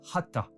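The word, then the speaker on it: חטא: Soit dit en passant, le mot hébreu pour péché se prononce hata et signifie également manquer la cible.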